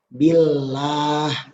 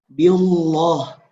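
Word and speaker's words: بالله: berarti Allahnya dibaca tipis Gimana cara baca tipis seperti yang tadi diabetes Billah jangan sampai dibaca birullah diam loh Itu tebal salah lillah itu yang benar bukan beo loh Hai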